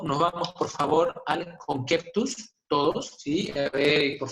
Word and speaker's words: conceptus: Entonces, en esa época, al feto se le conocía como conceptus. Esa es la pronunciación correcta, ¿ya?